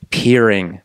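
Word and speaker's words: Piering: your last name curing peering peering I always see it it's spelled like pie ring right yeah okay but it's like you're peering around a corner or something is that how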